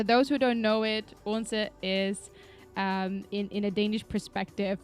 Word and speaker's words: Odense: Odense is spelled Odense. There is no L in Odense. There is Odense, Odense.